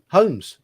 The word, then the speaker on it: Holmes: In the surname Holmes, for us the L is silent.